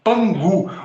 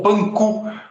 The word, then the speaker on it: Pangu: Mito ou lenda de Pangu, ou Panku, como se escreve em algum lugar. P-A-N-K-U, separado, né? Panku. Mas o Ku, para nós, é G na China, né? Então, às vezes você encontra como Pangu, porque a pronúncia do